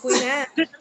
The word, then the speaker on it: Quenette: I'm your host, Dharma, and I'm so excited to be here today with Queenette. Is that how you say it? Yes. Queenette.